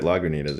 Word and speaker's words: Lagunitas: lagoon tez Lagoon ITA's I guess you're right Lagunitas yeah that sounds better that's how they say